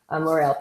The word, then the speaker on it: L'Oréal: L'Oréal Paris is how they say it in Europe, is L'Oréal Paris.